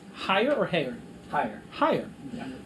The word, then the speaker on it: Hyer: I pronounced it correct, right? H-Y-E-R? Hyer? Hyer.